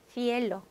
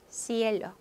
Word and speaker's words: cielo: 먼저 스페인 스타일로 한번 해볼까요? 혀 한번 물고 Cielo, Cielo, Barcelona, Barcelona. 중남미 스타일로 하면 그냥 S 발음 Cielo, Cielo, Barcelona, 바르셀로나. 여러분 발음 어떻게 하셔도 된다는 거죠.